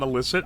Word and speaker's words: illicit: Sorry, did I say illict and not illicit? I only recently learned how you're supposed to say that word.